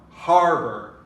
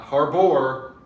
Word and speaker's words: harbor: don't do that um the word harbor we're going to stress on the har harbor not harbor harbor marriage stress on